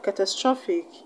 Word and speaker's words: catastrophic: have catastrophic catastrophic now when a word ends in ic where should you stress when i went dancing i see where should you stress you should place the stress on the second syllable from the end the second syllable from